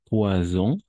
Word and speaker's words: poison: Hay otra más, muy parecida, como le poison, vibrada. Poisson, poisson, sin vibración.